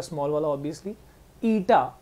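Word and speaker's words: Eta: ईटा, अब इसको कई लोग है ना इसको न्यू प्रोनाउंस करते हैं, गलत है, न्यू देखो क्या है,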